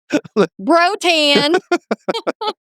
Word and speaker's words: brotan: Le brotan. Brotan. Okay. You got brotan? I hear you say Rotan. Yes. Brotan? Is it brotan? Is that how you say it? Yes. Okay. Bro- Brotan.